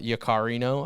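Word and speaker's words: Yaccarino: services and opportunities this is the CEO Linda yakarino I think is how you pronounce it powered by AIX will connect us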